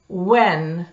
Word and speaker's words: when: В этих словах из двух букв W, W и H произносится только буква W, а H не произносится.